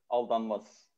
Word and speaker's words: Aldanmaz: Aldanmaz. Aldanmaz. Say your full name. Yeah, Aldanmaz, like how I pronounce in my language.